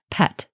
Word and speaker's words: pt: for sky which is spelled with a P and a T also and we pronounce this in modern times pet and then you have